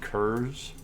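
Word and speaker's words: Curze: This is Kurz. Kurz, yes. Everyone pronounces it Curse because Kurz is just.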